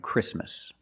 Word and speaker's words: Christmas: And when you see T between consonants, it's silent. Don't pronounce the T. If you link the sounds, do not pronounce the T. Examples, exactly and Christmas.